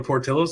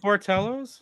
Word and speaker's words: Portillo's: Portillo's? Yeah, Portillos. Port, like Port of Maine, Port of Michigan.